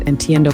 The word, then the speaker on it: entiendo: Just make sure to pronounce entiendo correctly. Endo with a clear end sound.